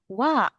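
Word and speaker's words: は: Tapi kenapa dibacanya wa sens? Ah, untuk membedakan yang mana itu pembacaan partikel dan mana itu yang kosakata.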